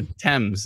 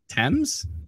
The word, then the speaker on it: Thames: river thames or thames is that thames t-h-a-m-e-s the river is pronounced thames or pronounced thames probably thames uh atlanta's